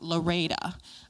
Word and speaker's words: LREDA: LREDA is, actually we pronounce it LOREDA.